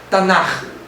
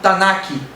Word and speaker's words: Tanakh: A pronúncia é Tanar. Alguns falam Tanakh. mas é Tanar.